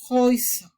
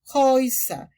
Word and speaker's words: Häuser: Y por último, se tiene que saber que la A umlaut también se vocaliza como hoy. Entonces decimos Häuser, Häuser.